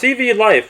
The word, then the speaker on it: CVLIFE: the brand name is pronounced CV life without pause between CV and life